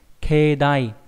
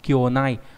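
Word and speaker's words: 境内: Keidai đặc biệt trong chữ cảnh và chữ nội thì đọc là keidai có nghĩa là cảnh bên trong đình chùa. Bình thường cái chữ cảnh đọc là kyo ví dụ trong từ kankyo đúng không nhỉ? Là môi trường ấy, hoàn cảnh ấy. Thế nhưng mà riêng trong trường hợp mà ghép với lại chữ nội nó cũng không đọc là kyounai mà đọc là keidai nhá.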